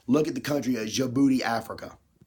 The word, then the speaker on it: Djibouti: Look at the country of Djibouti, Africa.